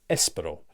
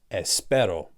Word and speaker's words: espero: the word I just assumed that it was pronounced Espero but actually the correct pronunce iation is Espero and it took me around 2 years to